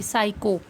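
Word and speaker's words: psycho: पी S right करोगे लेकिन sound किसकी आएगी? एस की, साइको। पी क्या रहेगा यहाँ पे? साइलेंट।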